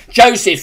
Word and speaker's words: Joseph: I think I pronounced your name wrong. Did I say James Foreman? Joseph Foreman.